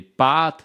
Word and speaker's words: pâtes: qu'on fait des pâtes si vous écoutez bien des pâtes la voyelle est plus longue et pâte la voyelle est courte maître mtre une autre